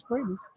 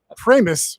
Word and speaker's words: Primis: If people say, "Wow, Primus." Uh secondly, just for the record, my last name is pronounced famous. I'm sorry, Primis. Which rhymes with famous?